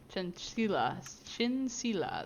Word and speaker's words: Chinchilla: Otherwise, you can if you want her real name, it's Laura Chinchilla. Chinsila. That's what it actually is. I should pronounce that right. I should change it to Thank you. Chinchilla, so that's easier for me.